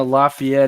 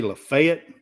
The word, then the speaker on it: Lafayette: you're from the south most people say Lafayette but Lafayette is the proper pronunciation it's the proper French pronunciation Lafayette yeah right Colorado